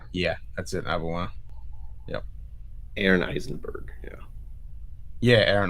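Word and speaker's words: Auberjonois: You can't pronounce that correctly. Yeah, that's it, Arbenois.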